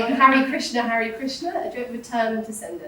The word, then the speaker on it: Krishna: So a dot underneath the letter means stick the tongue up, pointed to the roof of the mouth. So this is pronounced Krishna. There's no I in this sound.